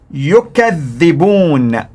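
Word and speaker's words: يُكَذِّبُونَ: Now listen to the pronunciation in Warsh. Yukadhibun, yukadhibun. One was in Hafs, yakdhibun. In Warsh, yukadhibun, yukadhibun. They basically accuse others of lying.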